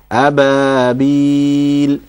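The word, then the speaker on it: أبابيل: That ba is also one of those letters that you pronounce with an empty mouth.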